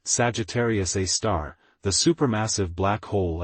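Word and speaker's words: Sagittarius A*: 4.3 million solar masses Sagittarius a asterisk pronounced Sagittarius A star the super massive black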